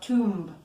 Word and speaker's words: tomb: buried in tombs okay be careful that you don't pronounce the letter B okay the letter B is silent it's not tomb its tomb okay without